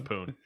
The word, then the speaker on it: Pune: developed by ubisoft poon is it poon pune pune you know what poon it looks like poo pun i mean listen dune is spelled the same way that's got a p so it's poon okay uh and mumbai